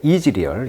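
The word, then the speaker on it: Israel: 이즈리얼, 이스라엘 발음을 영어로 발음은 이즈리얼이고 이스라엘 사람이란 것은 이스라엘리, 강세가 이음절에 있어요.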